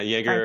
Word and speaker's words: Jaeger: I believe it's pronounced Jagger or Zipknight. Do you know those terms? Yeah, Jaeger or Zipkin.